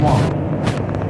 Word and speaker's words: Wang: It's Garrett Wang, by the way. It's okay. Wang. Wang is Wang.